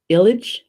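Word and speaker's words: eilid: the english word and the gaelic word is Ilic village spelled e IL id village and I'm using the pronunciation guide alright so see see around the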